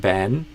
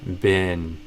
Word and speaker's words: been: And maybe you went a bit towards almost be, like ben. So maybe don't go that far, but go for the bin. Same as like a trash bin, bin, bin.